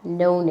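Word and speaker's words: known: I have नोन इट। I have नोन इट। के silent है।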